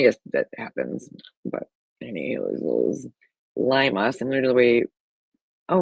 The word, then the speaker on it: Lima: Okay, Lima. Yeah. A small community in LaGrange County, Indiana, pronounced as Lima.